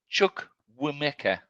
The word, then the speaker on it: Chukwuemeka: Chukwuemeka.